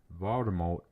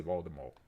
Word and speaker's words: Voldemort: Rling revealed that the the last T in Voldemort is silent. Meaning that we've been saying the word wrong. No, we haven't. I've been saying it right. Although I always say Voldemort.